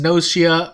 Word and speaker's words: Gnosia: of this so yeah i'm approaching gennosia and i'm pronouncing it that way because that's how the katakana looks it could be pronounced noshia i might switch in between but that's how i'm gonna be pronouncing it because that's how the the katakana is uh laid out again it could